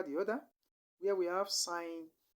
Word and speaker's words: sin: their short forms are sign which is s-i-n is not a sin is not pronounced as sin this is pronounced as sign s-i-n though this spelling